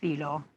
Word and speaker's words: Thilo: question is coming from filo now i hope i'm pronouncing your name correctly thilo t h thilo okay when when you